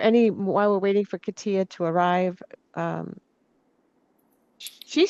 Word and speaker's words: Katia: Karen, did you get, Katia. Katia? I always want to say Katya because my neighbors, it says it the same way, and she says it Katya, but it's spelled the same way, so.